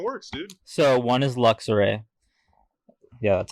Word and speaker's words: Luxray: So one is Luxray. Yeah, that's how you say it. Yeah, Luxray.